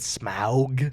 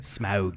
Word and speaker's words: Smaug: They're in like, I don't know how to pronounce it. Is it Smaug? Smaug, yeah.